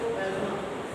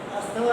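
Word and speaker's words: asthma: बात करते हैं फोर्थ एज्मा। क्या क्या बोलते हैं इसे? एज्मा। अस्थमा नहीं क्या है? एज्मा। T silent.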